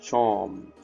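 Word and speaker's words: Seam: The name seem, pronounced charm.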